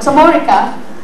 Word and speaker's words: Chamorrica: also part of the Chamorrica project, I think I put the stress in the other syllable for me, using my Chamorro stress rule, but Chamorrica, it will be on Tuesday,